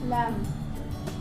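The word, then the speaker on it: lamb: जैसे for example लैम्प, तो ये जो है इसमें क्या हुआ, एम के बाद जो है वो बी आया तो बी यहाँ पे साइलेंट हो जाएगा, लैम्प।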